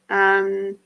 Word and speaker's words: Chrysocolla: CHRYSOCOLLA. So close. Chrysocolla. Ah, cool. You're amazing. I love that you can put that phonetically for me so I can read it.